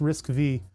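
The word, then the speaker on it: RISC-V: Aha, pronounce risk and then it's pronounced V. It's risk V.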